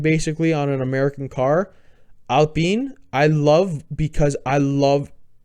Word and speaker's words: Alpine: Alpine, I think is how you pronounce it. It's not Alpine. It's a French team. I think it's Alpine.